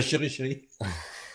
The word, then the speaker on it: CheryChery: Est-ce qu'il y a chéri ? Chéri alors chéri et chéri.